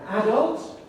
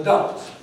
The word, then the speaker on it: adult: between british and america the question is where does the stress go is it an adult or is it an adult both pronunciations are found on both sides of the atlantic and as you can